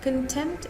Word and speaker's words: contempt: Contempt is noun. Contempt, if you ask me, first of all, it is contempt. Contempt. So the t or the t is almost negligible to pronounce.